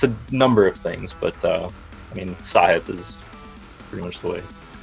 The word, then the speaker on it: Sahith: tongue, and it's a number of things, but Sahith is pretty much the way. When I was young, I always pronounced it the wrong way, because when I